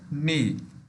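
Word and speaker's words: knee: के साइलेंट है इसमें, नी।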